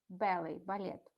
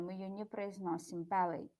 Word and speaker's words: ballet: A Russian ballet dancer, то есть танцор балета, ballet, балет. T is silent, we don't pronounce it. То есть последняя буква T, она беззвучная, мы ее не произносим, ballet.